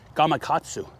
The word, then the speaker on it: Gamakatsu: size four Big River bait hook by gagu Gamakatsu Okay g don't want to pronounce it wrong gatu okay bigger bait love